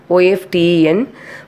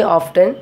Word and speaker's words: often: See, this word we often read this OFTEN, but some people's they'll say often, but it is nothing wrong. But I used to pronounce like often.